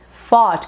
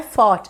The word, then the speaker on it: fought: você então to fight fought com som de F aqui não é thought é thought thought tipo linguinha presa tá